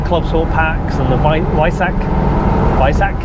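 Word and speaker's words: Weissach: But you know, with the Club Sport packs and the Visac it's pronounced, packs, it's kind of an experiment or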